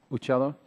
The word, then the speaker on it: Uccello: Corey Uccello, did I say it correctly? Uccello? I see. Cello like the instrument, good.